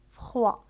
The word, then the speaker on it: froid: فخوا لا تنطق الدي. لكن عندما نحول الصفة إلى المؤنث فإننا نضيف أ وتصبح يعني الدي تنطق. مثال فخواد.